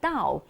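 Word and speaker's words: 倒: Because the upside down for the Chinese is pronounced Dao, and the Dao has the same meaning as arriving Dao.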